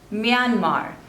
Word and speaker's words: Myanmar: Mozambique next is Myanmar Myanmar two labels and the stress is on the second one Myanmar Myanmar Myanmar next